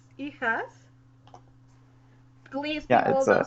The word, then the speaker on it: hijas: No, it's Hijas. Please, yeah, people don't say Hijas yeah. or Hijas or Hijas. In Spanish, Hijas. H is silent, so you say hijas, which is daughters.